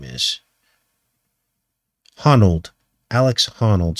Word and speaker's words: Honnold: Honnold. Alex Honnold, spelled like that, is the name, the guy's name.